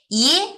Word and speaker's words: ie: 그냥 한말 대답할 때 예. 예예. 예. 예. 그때 이에 발음 비슷합니다.